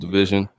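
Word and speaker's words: DVSN: I have coming up or division DB SN pronounced division my concern is there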